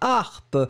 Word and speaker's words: harpe: est magnifique à écouter la harpe vous l'écrivez H a r P e c'est féminin et donc encore une fois pas de liaison pour le pluriel et votre a dans